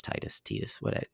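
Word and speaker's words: Tidus: I know it's Titus. Titus is the official pronunciation, so I like to call him Titus just to get under people's skin.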